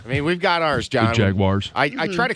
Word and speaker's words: Jaguars: it this way Jaguars Jaguars Jaguars Jaguars Jaguars yes there's no I in there jaguars it's a common thing I think that people say it like that jaguars I've heard it